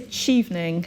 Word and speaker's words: Chevening: So tell us what is the proper pronunciation of the scholarship? I would say Chevening.